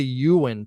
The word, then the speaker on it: Ewen: of Ewan Ewing Park now it's really Ewen Park Ewen and I'm gonna do some walk and talk soon at K-pop Park and Ewan Park but just so you see it's it's spelled wrong here so I misspelled it on purpose but it's you and for anybody who